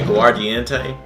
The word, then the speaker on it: aguardiente: Aguardiente? Yeah, aguardiente.